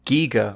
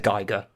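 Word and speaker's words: Giger: bomber it's an hr is it gigger or geiger croissant uh it's giga i believe okay i'm pretty sure that's how he said you're supposed to pronounce his name i haven't haven't heard him say it himself but thanks because everyone was said geiger um yeah yeah also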